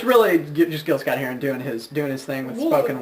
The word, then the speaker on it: Gil Scott-Heron: I believe it's pronounced Gil. I think it's Guile Heron. No, it features Gil Scott-Heron, and who's really kind of gotten a second wind with his career.